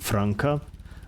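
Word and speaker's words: franca: the dark times also it's pronounced franka the sea as in cat oh okay your Cartoon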